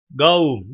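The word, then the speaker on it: قوم: Gavm değil mi? Gavm diye okunur. Kaf ile. Gavm kelimesi yani topluluk manasına gelir.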